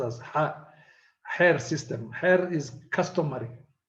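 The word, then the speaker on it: Xeer: system is the hair x in somalia is pronounced as hair system hair is customary it's traditional hair can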